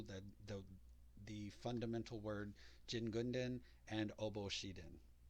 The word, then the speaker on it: Jingunden: see the kanji for jin gundin and then you'll also see how that could be pronounced shin gun din and then i've also